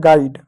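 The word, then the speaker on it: guide: डी को dough लिख दिए और ई क्या ई साइलेंट होता है तो हो गया आपका गाइड ठीक है प्यारे बच्चों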